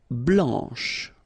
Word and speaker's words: blanche: pronounce the final C, and then blanche, okay, remember when you combine this CH you get the sound sh, blanche, okay, so blanc, blanche.